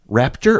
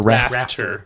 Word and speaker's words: Rafterman: Raptor or Rafter? Rafter. Yeah, rafters? On a raft. Yeah. Yep. Yeah. So. Yeah, on a raft too. That works. Rafterman.